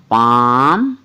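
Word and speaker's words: palm: ए एल एम काम पी ए एल एम पाम W sorry B ए एल एम बाम और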